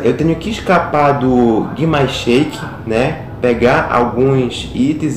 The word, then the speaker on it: Grimace Shake: ok então vamos aqui pro capítulo um mais Shake Essa é a pronúncia entendeu que mais Shake então sem Muita